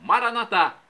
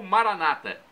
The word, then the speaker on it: Maranata: E agora, do aramaico dialeto de Jesus, eu clamo: Maranatá, como nós dizemos, nós católicos. Ou Maranata, como dizem nossos irmãos separados, os evangélicos ou protestantes. Não importa a pronúncia, o significado é o mesmo.